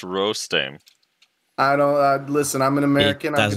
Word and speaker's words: Rostame: For the fourth time, it's pronounced Rostame.